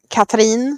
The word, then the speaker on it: Katrin: I want to say Katrin because that's the more Swedish pronunciation.